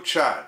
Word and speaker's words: Qian: I have a link in the description to a video from CCTV, the Chinese TV network, showing Chinese Defense Ministry spokesman Wu Qian, that's spelled Q-I-A-N, putting it out there that the